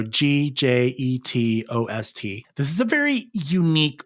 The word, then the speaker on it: Gjetost: To spell Gjetost, I have to say it as I spell it. So it's J-Jet Ost, so Gjetost.